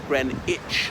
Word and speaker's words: Greenwich: I know it looks like witch, but it's Greenwich, like scratch and itch. That's how it's pronounced.